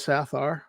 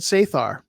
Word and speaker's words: Sathar: pronunciation is for sapphire i go with sathar i've had a friend who said saithar i think both are good now let's get back